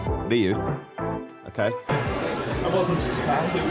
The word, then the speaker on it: Ryu: Make sure you say it right as well. It's not Ryu. Ryu.